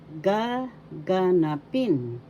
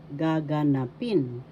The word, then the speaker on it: gaganapin: as ginaganap ginaganap happening gaganapin will happen. First syllable ga. Second syllable ga. Third syllable na. Fourth syllable pin. So if you this the fourth syllable has the accent gaganapin.